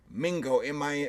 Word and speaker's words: Mingo: Mingo, rhymes with Ringo, and that was the, I guess, slang term for indigenous person of no discernible tribe.